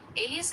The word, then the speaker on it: alias: It's pronounced Ali UHS.